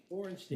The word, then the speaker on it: Borenstein: Did I pronounce that right? Borenstein.